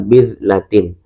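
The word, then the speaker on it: بِذْلَة: Jadi cara bacanya adalah bidlatin. Baknya diharokati kasro, kemudian zalnya titik satu, jadi zal bukan dal, zalnya itu sukun.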